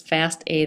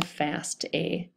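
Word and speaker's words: FASTA: So, we need this file, this fast A, that's how it's pronounced, fast a file.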